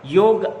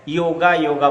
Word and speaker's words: योग: समाज में जो है योगा बोलते हैं। योगा उच्चारण सही नहीं है, योग होता है।